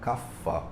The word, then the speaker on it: Kapha: pessoas leem e falam Kapha, trifala. Mas dentro do sânscrito, se você estiver estudando sânscrito de maneira mais detida, você deveria pronunciar isso como P, Kappadosha.